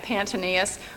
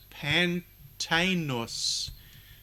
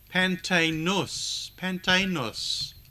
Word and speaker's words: Pantaenus: We had Pantanius.